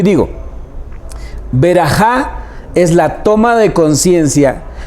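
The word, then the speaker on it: ברכה: La palabra hebrea para bendición es berajá. Berajá. Algunos lo pronuncian con K y dicen beraká.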